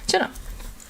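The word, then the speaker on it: tjena: spelled close it's uh t j in a e a or e n a there you go jenna and so well yeah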